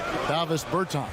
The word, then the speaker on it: Davis Bertans: Oh, well now, at this point in my life, it's Davis Bertans. Is that how you say his name? Yeah. Davis Bertans.